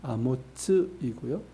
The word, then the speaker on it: 아모츠: 우리 성경에서는 같이 이렇게 나오지만 히브리어로 보면 철자 자체가 다릅니다. 이사야의 아버지는 아모츠이고요. 우리가 아는 선지자는 아모스입니다. 정확한 발음으로 보면 그렇습니다.